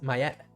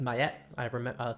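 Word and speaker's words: Miette: So we're using, oh, wait, it's I pronounced it wrong. It's my at. This is pronounced my at.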